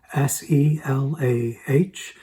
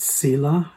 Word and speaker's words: Selah: At the end of that line is the word spelled S-E-L-A-H. We used to pronounce it Selah.